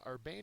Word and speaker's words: urbane: and finally herbane uh Urbane is probably one of the more difficult ones to understand uh it's an adjective second syllables accented is refined in manner